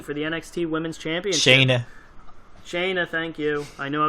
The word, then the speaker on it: Shayna: Shauna Blazer versus Kyrie Sane for the NXT Women's Championship. Shayna, thank you.